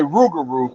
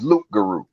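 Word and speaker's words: loup-garou: See, some of them say Rougarou, but some of the proper, according to her, the proper pronunciation is Luke Guru.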